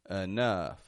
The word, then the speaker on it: enough: anything like that ow but just uh uh enough enough e n o u g h enough